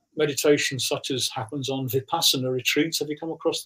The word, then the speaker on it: Vipassana: Whereas when you do meditation such as happens on Vipassana retreats, have you come across those? Some people pronounce it Vipassana.